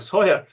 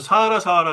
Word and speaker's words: Sahara: 여기 서해라. 어릴 때부터 사하라 그랬는데 이제 정확한 발음은 서해라.